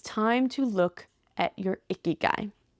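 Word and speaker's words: ikigai: your life it's time to look at your icky guy it's i k i g a i yeah that's how you spell it it's not like icky guy like icky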